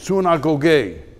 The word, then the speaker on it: synagogue: you know that the word synagogue is a greek word not a hebrew word means soon i go gay that's how you say it it means those